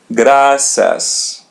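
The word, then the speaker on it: graças: Gracas. Gracas. Repeat part after part. Gracas. Graas. Gracias. Gracias. R in the middle. We pronounce it as English. R.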